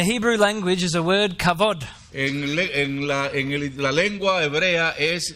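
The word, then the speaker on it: כבוד: C-H-A, B-O-D, but it's pronounced as a V.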